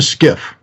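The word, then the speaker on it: SCIF: quick uh what's a skiff yeah so skiff stands for sensitive compartmented information facility spelled s-c-i-f but pronounced like s-k-i-f-f and when you go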